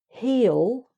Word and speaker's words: he'll: So I'll, you'll, he'll. So that's like two syllables really. He'll, she'll, it'll, we'll, they'll. So that these are all more or less two syllables, okay, meaning I will, you will, he will, etc.